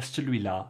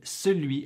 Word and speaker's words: celui: I hear celui-là far more often than the others. Please do tell me your experience in the comments. And celui at real speed often sounds like celui, celui.